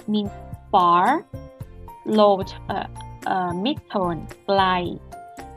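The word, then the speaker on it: ใกล้: Glai, glai, glai with falling tone means close.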